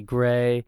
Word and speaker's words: GRY: Well, no, it is pronounced Gray.